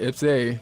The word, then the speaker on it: IPS-A: Yeah, we're talking about the ball, and then is it IPS-A? Is that how we're pronouncing it? That's right, IPS-A. IPS-A, a lovely military acronym, but it's a good one.